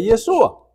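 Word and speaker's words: ישוע: voy a explicar como muchos galileos en los diez yeshua no sabían pronunciar correctamente la hay que es la letra precisamente con la que termina el nombre de yeshua termina con alguien Entonces los galileos cuando decían yeshua No pronunciaban la hay en y sonaba como yeso sin la hayen y era normal escuchar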